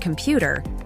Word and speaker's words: computer: example in the word computer the stress is on the second syllable computer and in a